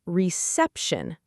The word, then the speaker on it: reception: And then I realized, in English, it's reception. The stress is on the second syllable.